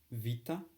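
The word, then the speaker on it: βήτα: pronounced a i dad then we have um Vita not beta V which is like a V uh then we have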